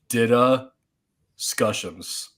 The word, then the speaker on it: DDiscussioMs: So if you have trouble pronouncing it, this is the pronunciation. It's DDiscussioMs.